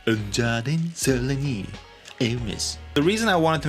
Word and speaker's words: Hermès: So here's a dubbed version with the correct pronunciation. Un jardin sur le Nil, Hermès.